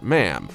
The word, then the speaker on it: Ma'am: should be addressed as Ma'am, only pronounced with a short A, like in jam.